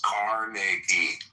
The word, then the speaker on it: Carnegie: So well, pronounce his fucking name right. It's Carnegie.